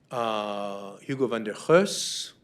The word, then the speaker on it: Hugo van der Goes: Here's Hieronymus Bosch, Hugo van der Goes.